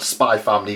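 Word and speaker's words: Spy × Family: want to call it i call it spy family because the x is silent this is a fantastic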